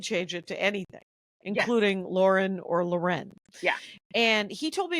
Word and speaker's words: Ralph Lauren: Ralph Ral Lauren as but he says it's pronounced Ralph Lauren yeah yeah all I know is that his